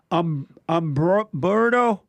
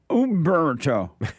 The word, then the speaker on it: Umberto: Humberto? I said it right there? Humberto. Am I saying it right? I said Umberto. Oh, Umberto.